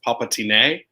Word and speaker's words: Palpatine: It's Palpatine. This is how you pronounce it. With an accent aigu over the E.